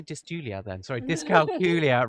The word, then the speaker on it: dyscalculia: in a different way is to rhyme with Julia so we always say disc calcula rhymes with Julia so did I say dis Julia then sorry disc culia rhymes with Julia um